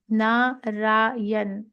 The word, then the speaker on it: Narayan: The Narayan, 3 syllables.